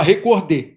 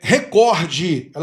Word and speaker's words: recorde: Muita gente pronuncia como recorde, mas não é recorde.